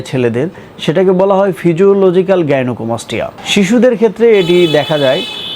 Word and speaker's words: গাইনোকোমাস্টিয়া: সঠিক উচ্চারণ গাইনোকোমাস্টিয়া।